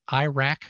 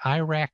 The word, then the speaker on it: IRAC: We just call that IRAC for short. It has nothing to do with a country that sounds about the same the way it's pronounced, but Insecticide Resistance Action